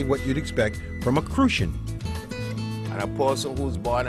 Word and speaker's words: Crucian: and live and squ refer to as crucian crusan you got to say it like that crucian a crucian person is